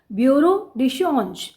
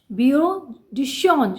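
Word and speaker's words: bureau de change: Next है बच्चे ब्यूरो डी चेंज। इस दी pronunciation ब्यूरो डी चेंज, ब्यूरो डी चेंज, श नाल बोलनी है बच्चे।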